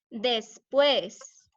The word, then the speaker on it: después: ¿Qué tal la palabra después? Después. ¿Se dice después o se dice después? Aquí hay dos sílabas. Después. ¿Cuál de ellas suena la más fuerte? ¿Qué sílaba tiene el sonido más fuerte?